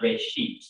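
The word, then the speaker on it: בראשית: of it's called genesis genesis comes from a hebrew word it's pronounced ray sheep and it just means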